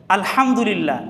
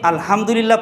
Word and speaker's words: আলহামদুলিল্লাহ: এরকমভাবে আলহামদুলিল্লাহ, এখানে হা উচ্চারণ, এটাকে গলা চিপিয়ে পড়তে হয়, যার অর্থ হলো সমস্ত প্রশংসা আল্লাহ তাআলার। কিন্তু আমি যদি আলহামদুলিল্লাহ পড়ি, তাহলে তার অর্থ হবে প্রশংসার বিপরীত অর্থ হবে।